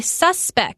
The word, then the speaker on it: suspect: small small difference but one of them is a noun you kind of pronounce it a little different you say suspect like a suspect in a crime investigation and then you could say you suspect someone of doing something so I know